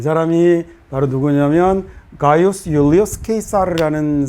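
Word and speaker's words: Gaius Iulius Caesar: 이 사람이 바로 누구냐면 가이우스 율리우스 케이사르라는 사람인데요. 우리가 보통 이제 영어로 읽을 때는 뭐라고 읽냐면 줄리어스 시저라고 이렇게 읽는 사람이죠.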